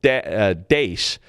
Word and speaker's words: DaaS: of course this is called Dace desktop as a service and I'm pronouncing it sort of Dutch style but you know if you have two a's together it's a long a so Dace is is